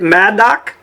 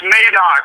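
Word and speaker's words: Madoc: Maddo, Ontario, Canada. Uh, it's Maddock.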